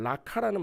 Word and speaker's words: 라가: 근데 우리가 지금 보고 있는 말씀에서이 라가는 라카라는 말 발음으로 되거든요.